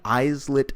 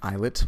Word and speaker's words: islet: that there are many isolate cells it's actually pronounced eyelet but i'm mispronouncing it just to let you know how it's spelled eyes lit or eyelet